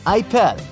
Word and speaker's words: Apple: Apple Store except that the French people pronounce it ipel you'll have the option